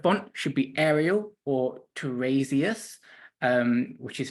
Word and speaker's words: Tiresias: The font should be Arial or Tiresias, which is spelled Tiresias.